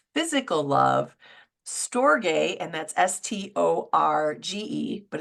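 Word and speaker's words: storge: is romantic passionate physical love stor and that's s t o r GE but it's pronounced stor that's that family love that we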